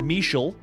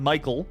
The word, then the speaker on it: Michel: The internet is telling me that this name is pronounced Michel, so not Michael.